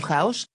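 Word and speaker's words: χάος: ejemplo la de platón la palabra chaos pronúnciese house significa mezcla magma desorden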